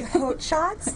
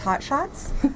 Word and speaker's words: Haute Shots: Well, it's really Haute Shots, like okay. Haute Couture. Okay. But absolutely everybody says Hot Shots. But I want to make sure people know that it's Haute because, you know, you spell it differently than hot.